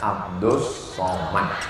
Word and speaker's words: Abdul Somad: Ini bukan Tuhan, ini hamba Allah, namanya Abdus Somad. Tulisannya Abdul Somad, tapi cara bacanya Abdus Somad.